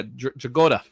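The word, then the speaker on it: Dragotta: I'm curious to see what you think of the new art in Absolute Batman compared to Dragola. Is that how you say his name? Yeah, Dragoda.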